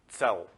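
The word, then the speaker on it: צל: In Hebrew, the word shadow is tzel. It's spelled Tzadi Lamed.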